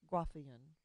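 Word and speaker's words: Graafian: to as a graffia that's not a typo is two a's together and i'm i've always heard it say it's being pronounced ruffian follicle and i've mentioned to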